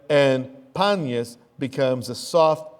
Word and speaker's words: Banyas: And so it's renamed in Arabic Banyas, because in Arabic there's no p sound.